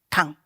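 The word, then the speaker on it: 漢: época da dinastia han que em japonês se pronuncia can então ao pé da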